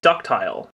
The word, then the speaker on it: ductile: once you deform them this type of material is called ductile sometimes pronounced ductal depending on who you ask and you can bend